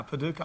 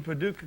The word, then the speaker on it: Paducah: And on the cards, he looked at Paducah, Kentucky and pronounced it. And I was still sitting there going, how do you pronounce That's very that? impressive. Yeah, Paducah.